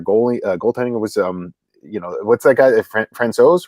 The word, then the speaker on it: Francouz: Francouz, right? Is that how you say it? Yeah.